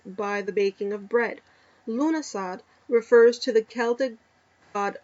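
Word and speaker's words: Lughnasadh: called lmas or lug lug nasad uh pronounced lunasad by the Kelts is the first of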